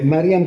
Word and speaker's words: Mariam: Mariam como suena como un nombre árabe también, no sé, porque aquí dicen María o Mari, pero Mariam es el nombre de la Virgen allá en Palestina, así lo pronuncian.